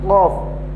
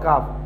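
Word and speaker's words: ق: This one is Qaf, Qaf. My dear students, this one is Qaf, not Kaf.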